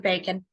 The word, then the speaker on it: bacon: few slices strips of bacon b-a-c-l-n it sounds like it should have a K in there but it doesn't they can and orange